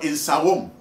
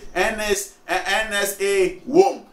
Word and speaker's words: Insawam: So when they are saying, NSA WOM, NSA WAM, NSA WAM, NSA WAM, the NSA WAM, NSA, they can't pronounce Insawam. But we look at it and we say Insawam because it is our language.